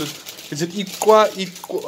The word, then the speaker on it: Ixwa: Iqwa. How do you pronounce it?